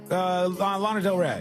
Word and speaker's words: Lana Del Rey: It rhymes with llama. Lana Del Rey.